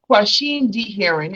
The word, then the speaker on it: Quasheem D. Herring: god oh my god so this is um question d heron am i saying your name right you are